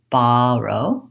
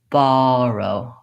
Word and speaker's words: borrow: an a H so when I typically say this word I say baro baro I use an open relaxed aw my tongues flat on the bottom of my mouth and I don't have any lip rounding borrow however you may